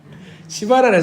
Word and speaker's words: 시바: 자 이름을 잊을 수가 없을 겁니다 이름이 뭐죠 발음을 잘하셔야 됩니다 시바라 사람이래요 시바 예 외국에는 우리나라이 정서가 좀 다른